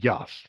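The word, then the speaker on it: Jass: See, I'm Swiss and there's a it's a card game called Yas. It's spelled J A SS and I grew up playing that game with my mom loved it.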